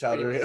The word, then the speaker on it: Chowdhury: Is there extra syllable? Enough. Yeah. How would you say it? Chowdhury. I mean, it's Chowdhury.